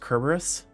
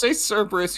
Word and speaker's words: Cerberus: so it's technically pronounced Kerberos? I don't even know the Kerberos. He's actually Starkey. what? It's Being from a nerd again. it's from a Greek. It's a Greek root. Just say Cerberus.